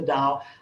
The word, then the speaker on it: Tao: it call it the tao call it the dao i think dow just rolls off my tongue and therefore i call